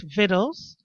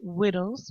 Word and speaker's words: victuals: him food, which is victuals. He pronounces it wittles, one, because he's not educated, and two, because he doesn't have a lot of teeth, so he slurs his words.